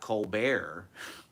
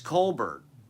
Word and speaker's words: Colbert: colar you know the guy's name is not Co bear it's Colbert it's Stephen Colbert I mean do the other people in his family pronounce it as coar maybe they do I